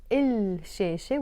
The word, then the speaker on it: الشاشة: So in this case, الشاشة, we pronounce it as الشاشة because it starts with the letter sheen, and sheen is a sun letter.